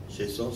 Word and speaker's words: Chaisson: Chaisson se escribe C-H-A-I-S-S-O-N.